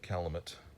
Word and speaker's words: Calumet: It looks like Calumet Cream, but it's pronounced Calumet, which is French for beige.